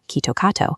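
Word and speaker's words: キットカット: The Japanese pronunciation of the brand name, Kitto Katsu, sounds nearly identical to Kitto Katsu, a common phrase translating to "you will definitely win" or "you will definitely succeed."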